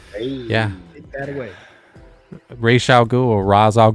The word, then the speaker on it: Ra's: Ra's al Ghul, or Ra's al Ghul, how they do it, they pronounce it in the movie, which apparently is incorrect. It should be Raish.